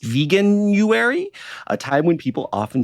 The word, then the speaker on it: Veganuary: to be uh and I guess this is pronounced veganuary a time when people often try out and